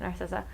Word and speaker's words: Narcissa: Yeah, you said it right, Narcissa.